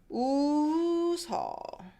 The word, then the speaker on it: 웃어: present tense ending, then because this 이응 doesn't have any sound, it carries the sound of this 시옷. Now then it'll be pronounced as 웃어.